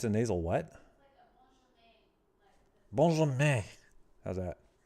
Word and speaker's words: Benjamin: Benjamin. Benjamin Goddard. All right. Yeah, well, they're French. It's their own fault for having half their letters be silent and the other half be some weird nasal pronunciation.